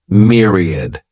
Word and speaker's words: myriad: next noun is Myriad this word has three syllables and the stress is on that first syllable Mir sounds like mirr Myriad a myriad is a